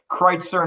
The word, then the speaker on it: Kreitzer: So it is Kreitzer, not Kritzer, even though the spelling looks like it should be Kritzer. There's a long and tortured history of the family coming over from Germany and the spelling getting changed, but sticking with the old pronunciation.